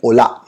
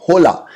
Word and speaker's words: hola: बोलते हैं स्पेनिश में ओला। उसकी स्पेलिंग होती है HOLA, होला, लेकिन उसका प्रोनाउंसिएशन होता है ओला। एच हमेशा क्या होता है? साइलेंट। तो हम लोग बोलते हैं ओला। इट्स नॉट होला, इट्स ओला।